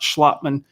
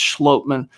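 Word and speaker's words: Schlottmann: When guys are talking about player names, it's not Schlotman, it's Schlotman. Little things like that.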